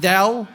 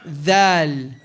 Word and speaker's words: ذ: Remember, careful saying thou. Not thou, thal. Thal. Tip of the tongue should be between the top and bottom teeth.